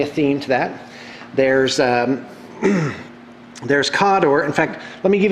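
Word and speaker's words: Khador: There's Cawdor. In fact, let me give you the proper pronouncements. It's Cygnar, Cawdor, Crix, give you more details here in a minute, Crix, Menoth.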